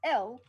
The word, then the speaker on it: El: It's it's L is the S is pronounced L in Kryptonian and means hope.